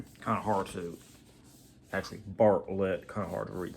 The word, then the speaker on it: Bartlett: So, uh, Harold was created by Craig Barlite or however you pronounce his name. And I just noticed Barllet, sorry, kind of hard to actually Bartlett.